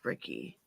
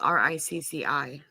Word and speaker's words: Ricci: Melanie Griffith, Ashley Aston Moore, Gabby Hoffman, Thora Birch, and Christina, I think it's Ricci. It's spelled R-I-C-C-I. That might be Richie.